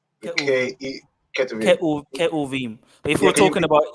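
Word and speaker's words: כתובים: Ketuvim. But if we're talking about, if we were to pronounce it in the more traditional way, it's Ketuvim, because there's no V's or J's.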